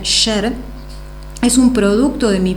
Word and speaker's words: Escher: ¿Y cuántas han pensado que Escher, que se pronuncia Sher, es un producto de